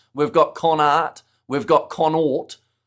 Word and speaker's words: Connacht: See Flesh uh Conact pronunciation. See the last live stream I just got corrected and I was told that it was Conort and now So you're saying Conact? I feel like maybe it's